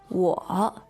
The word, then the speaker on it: 我: So the pronoun for I or me is 我，我, third tone.